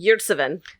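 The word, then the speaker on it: Ömer Yurtseven: Yurtseven? Yurtseven.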